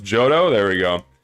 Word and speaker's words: Giotto: Pronounced Jodo.